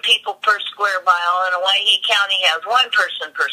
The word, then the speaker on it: Owyhee: Anyway, it's spelled, Hawaii is spelled Owyhee. It's the original anglicized spelling of Hawaii.